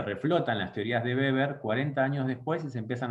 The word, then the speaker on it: Weber: van a ver que se escribe con w y generalmente le webber pero como este señor era alemán no es webber sino que es beber ok max beber es